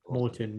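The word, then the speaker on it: Maurten: Obviously, you're affiliated with Merton. Is that how you pronounce it, or Morton, yeah. Morton?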